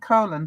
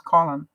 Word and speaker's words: Colin: and friends he wasn't colon to them he was colin he pronounced it the english way i didn't know that